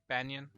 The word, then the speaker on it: Banyan: know about yeah I I've literally been calling it ban trees my whole life I don't know about here how'd you say it extras banion Banyan yeah uh okay that's